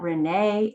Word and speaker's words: Rene: mom and dad but renee is renee in english and spanish sometimes people pronounce my